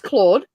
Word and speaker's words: Claude: pronounce how would you would you pronounce the name Claude like Cloe no that's Claude it's I read Cloe